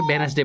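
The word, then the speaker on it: Wednesday: ढूंढना है अब जैसे वेडनेसडे है देखो वेडनेसडे वेडनेसडे में क्या है आपका डी साइलेंट इसे क्या पढ़ते हैं वेडनेसडे पढ़ते हैं ठीक है आवर में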